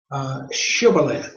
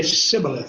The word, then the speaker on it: Shibboleth: of a amusing thing, the Ephraimites could not say Shibboleth. They would say Sibboleth. They could not pronounce the sh.